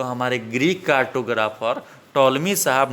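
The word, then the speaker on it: Ptolemy: कौन है, टॉलमी। देख सकते हैं TOLEMY, टॉलमी। पी यहाँ हमारा दोस्तों साइलेंट है।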